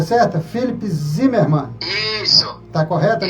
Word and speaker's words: Philipp: A pronúncia é certa? Felipe Zimmermann.